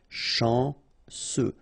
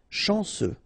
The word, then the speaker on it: chanceux: Chanceux. Final X not pronounced. And then remember, C, E, U will give you this se sound. Chanceux. Chanceux.